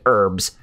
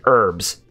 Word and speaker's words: herbs: any eating herbs healing herbs around there it's the H is silent and herbs where or you could say herbs if you want to but the H